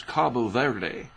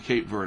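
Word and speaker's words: Cape Verde: the cape vert Islands I've seen them referred to as Cabo Verde is that how you say it the Cabo verd Islands but I know it is the cape verd Islands we call them Cape verd hurricanes for a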